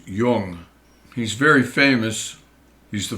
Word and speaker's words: Jung: It's not pronounced Yung, it's pronounced Yung.